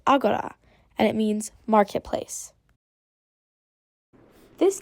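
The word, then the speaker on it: ἀγορά: makes R sounds r try this one it's pronounced Agora and it means Marketplace this next letter is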